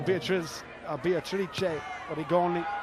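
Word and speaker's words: Beatrice Rigoni: So Beatrice Origoni, to use the correct Italian pronunciation.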